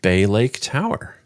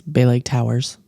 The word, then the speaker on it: Bay Lake Tower: This week, we're going to start off with Bay Lake Tower. Often mispronounced as Bay Lake Towers.